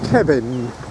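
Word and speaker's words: Cefn: of blocks is called a word that is spelt c-e-f-n and i've just discovered from a local that it's kevin so we're the kevin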